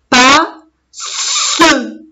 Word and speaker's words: passe: Il y a deux lettres S, ça veut dire j'appuie bien en prononçant. Pas, se, passe. Parce que la lettre E à la fin, je ne la prononce pas. Elle est muette.